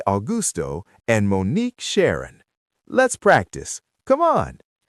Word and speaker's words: Monnique: It is Monnique. See? The stress is on the last part. Monnique, it's wonderful to be here with you.